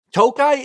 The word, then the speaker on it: Tokaji: hours Northeast of Budapest often you'll see the wines with an i at the end that still pronounce toai it just means that